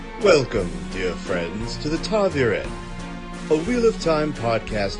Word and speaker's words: ta'veren: and they definitely say Taviren a lot more. Now, yeah, the second syllable, excuse me, is Veer, according once again to the glossary at the end of the actual physical book.